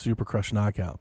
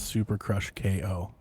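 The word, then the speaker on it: Super Crush K.O.: So you might it might be pronounced Super Crush Knockout, but it's Super Crush KO.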